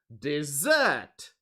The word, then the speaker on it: dessert: desert and the second word is who knows dessert yes so what is the difference between them